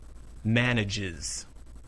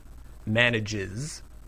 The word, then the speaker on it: Manages: Manage is two syllables. Manages is three syllables. Manage. Manages.